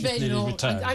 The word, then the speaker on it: Badenoch: If Kemi Badenoch, her husband told me it's pronounced Badenoch. I'm going with Badenoch.